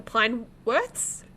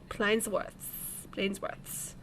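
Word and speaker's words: Pleinsworth: The Plainworths? Is that how you say it? Plainsworths.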